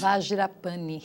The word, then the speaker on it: Vajrapani: Agora, nesse bloco, eu trago a Andréa Aguiar, ela que é coordenadora do Centro Budista como é que se pronuncia isso? Vajrapani.